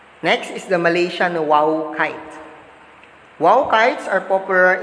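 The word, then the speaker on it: wau: next is the malaysian wow kite wow kites are popular in malaysia it wings are similar to an arabic letter that is pronounced as the wow or this kite making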